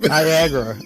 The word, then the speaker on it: Niagara: Niagara. NIAG. Don't ask me to. Where's the end of the day here? I'm going to have to write the shit out. Rhymes with Viagra.